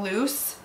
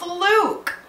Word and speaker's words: Luc: we have luke who i have been calling loose but i saw on a v.e schwab's instagram that it is pronounced luke so there's that in my head it's still